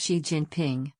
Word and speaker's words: Xi Jinping: Little Xi Jinping, pronounced Xi Jinping, went to an idyllic kindergarten, where they waved red flags and sang songs to Chairman Mao.